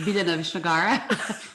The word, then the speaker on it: Biljana Vishnagar: So, as you said, my name is, I will pronounce it how I pronounce it, Biljana Vishnagara.